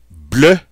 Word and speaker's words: bleu: Bleu, bleu. Bleu, bleu. That EU makes that sound. Notice by adding the E in the feminine form, it doesn't change the pronunciation.